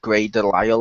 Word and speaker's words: Grey DeLisle: favourite voice actress of all time is the one who voices Daphne at the moment, Grey Delisle, or however you pronounce her last name. That you got it correctly.